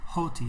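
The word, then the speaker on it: ὅτι: say you pronounce it hoti i know there's no h here but that little mark at the top that goes from upper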